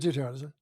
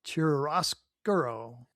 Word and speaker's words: chiaroscuro: Just just pronounce it like with an Italian accent. I don't know if it's an Italian word or not. Dan, next week is a case of chiaroscuro.